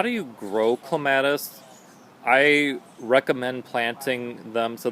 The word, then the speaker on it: clematis: one of my favorites this is clematis or clematis if you're from great britain that's how they pronounce it over there it's the queen of